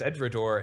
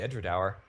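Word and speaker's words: Edradour: I pronoun incorrectly in the first place I pronounced it as edor and it's actually edra okay and then like it's like the smallest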